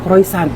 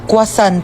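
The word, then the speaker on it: croissant: Croyant? Ah kwasant po.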